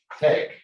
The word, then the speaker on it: TeX: the greek letter i it's like a k pronounced like a k uh not like an x so uh we pronounce we pronounce it tech because yeah people kept